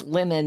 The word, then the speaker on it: lemon: You pronounce your short E sounds, as in the word pen, uh, more like a short I, like pin.